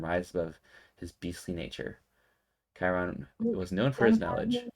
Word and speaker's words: Chiron: Just pronounce it for me. Chiron. Yeah, she says Chiron.